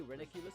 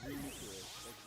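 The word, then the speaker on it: Reuniclus: Yeah, I would say Reniculus, but it's actually pronounced Renucleus. Like the the cell Renucleus.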